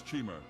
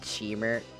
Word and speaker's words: Chimer: pronounce Chimer as Chimer, I am going to commit an act of terror. Chimera is Cheemer.